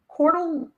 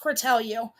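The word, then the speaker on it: Cortelyou: Okay, 6250 Calu. Now she's doxing me and it's pronounced Cortellu. 6250 Cortellu Avenue, apartment one Avenue.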